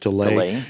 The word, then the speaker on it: Tillett: Sometimes his name was pronounced Tillett. Yep. Usually it was pronounced in a way that it would rhyme with toilet.